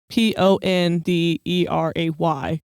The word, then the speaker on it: Pend Oreille: Now, it's not spelled Ponderay. It's another one of those words in this show that's not spelled how it sounds.